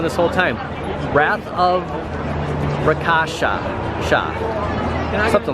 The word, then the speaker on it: Rakasha: Rashaka. The Wrath of Rakasha. Okay, I've been saying it wrong this whole time. Wrath of Rakasha.